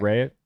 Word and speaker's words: Rea: Rhea, like diarrhea, or like is it Rhea? Rhea. It's Rhea.